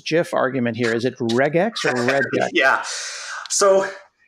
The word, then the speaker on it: regex: argument here is it regex or reg yeah so I think it's probably regex hard G I feel like you're